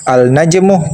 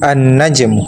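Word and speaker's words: النَّجْمُ: Jadi salah kalau dibaca al-najmu tetapi dibaca bertasydid, maka cara bacanya an-najm.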